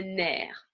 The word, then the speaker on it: nerf: Quelques exceptions où le F n'est pas prononcé ou est prononcé différemment. Une clé, des œufs, so eggs in the plural, meaning more than one form, un nerf, nerve.